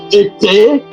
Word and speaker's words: été: And then we have E as in été, that is summer.